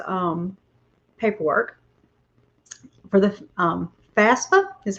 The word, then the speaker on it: FAFSA: out all his um paperwork for the um fafsa is how you say it it looks real